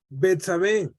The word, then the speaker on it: Betsabé: Alberto, no puedo pronunciar el nombre de la mujer. ¿Tiene su nombre? Betsabé.